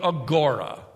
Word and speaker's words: agora: timothy uh and silas to go into the agora the marketplace a.g it's spelled o-r-a today we might call it downtown